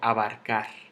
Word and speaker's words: abarcar: ¿En dónde está el golpe de voz? En car. Porque yo no digo abarcar, yo no digo abarcar, yo digo abarcar.